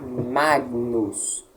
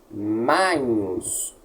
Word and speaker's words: magnus: Mais para frente não será Magnus, será Magnus.